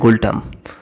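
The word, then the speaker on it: ngultrum: আচ্ছা, গুলটাম, এটা এনটা উচ্চ থাকে, উচ্চারণ হয় গুলটাম।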